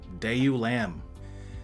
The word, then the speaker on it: deiulamb: Blinky so Blinky uh okay uh day you day you lamb it's pronounced uh it's semi-latin uh it is a